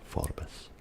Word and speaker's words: Forbes: Although in Scotland I've noticed there is some argument over whether it's Forbes or Forbes. I knew a guy called Forbes, spelled Forbes, and he assured me that his name was pronounced Forbes.